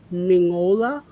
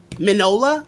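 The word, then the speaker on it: Mignola: i can't it's like you don't pronounce the g mingola manola is it manola like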